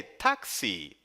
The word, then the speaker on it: Taxi: Para isso, você precisará usar a expressão Hey, Taxi! Hey, Taxi! Isso mesmo, a pronúncia de táxi em alemão é igual ao nosso táxi no português.